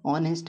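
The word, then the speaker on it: honest: ऑनेस्ट, ऑनेस्ट में H silent है।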